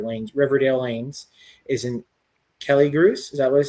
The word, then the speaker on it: Kelligrews: talk where your lanes, Riverdale Lanes, is in Kelligrews. Is that what it said? That's how you say it? Killigrews, yeah.